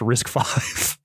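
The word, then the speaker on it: RISC-V: risk five is um risk V pronounced risk five it's literally how the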